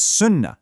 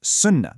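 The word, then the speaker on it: सुनना: So, our second verb is sunnah, meaning to listen. Notice that double n sound in the middle. It's not sunna, it's sunnah. There's a slight emphasis on that nasal sound.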